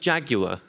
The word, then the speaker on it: Jaguar: I think Jaguar is how it's pronounced.